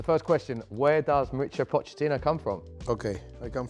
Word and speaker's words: Pochettino: No, so easy. Pochettino. There we go. Yes, Pochettino. Easy. And it's Italian name. Yeah. Of course, in Italia, it's Pochettino. I like more Pochettino.